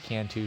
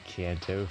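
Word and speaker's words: Canto: to it's i believe it's supposed to be pronounced kanto but i just say cantu for the memes uh but yeah i should probably just say kanto from now on to not trigger as many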